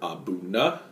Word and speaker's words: A'Bunadh: This is Aberlour Abuna. That's the way that I understand you pronounce that, and it's really fun to say.